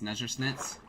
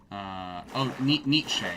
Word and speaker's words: Nietzsche: How the fuck do you pronounce Nezhersnitz? Nietzsche.